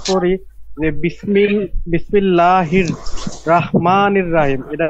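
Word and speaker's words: رحيم: এই শব্দটা কি রহিম হবে না রাহিম হবে রহিম রহিম র রহিম র হ্যাঁ আকারটা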